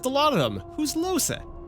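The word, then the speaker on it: Lohse: You know, they just said the name and I keep forgetting how to pronounce it. It's Losa.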